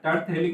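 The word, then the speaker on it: terephthalic: ठीक है, और थैलिक, अच्छा यहाँ पे देखो P आएगा, है ना, टर्थेलिक में P साइलेंट है, टर्थेलिक एसिड।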